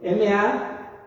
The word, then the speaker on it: Mashiach: Si ustedes saben griego, a lo mejor lo pronuncian mejor que yo. M-A-S-H-I-A-C-H.